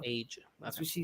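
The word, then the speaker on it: A'ja: It's Asia. Asia. That's how she said it. She on her interview, she said that's how you say her name. Just remember the continent of Asia, and there you go. Asia.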